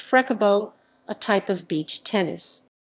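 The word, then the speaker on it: frescobol: beaches of rio is called frescoball pronounced freckabot a type of beach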